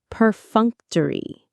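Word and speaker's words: perfunctory: Peruncttory. Peruncttory. The stress is on the second syllable.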